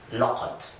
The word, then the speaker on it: لَقَد: version of qad where we have added a lam to the beginning of it. So the whole thing looks like this, and it's pronounced laqad.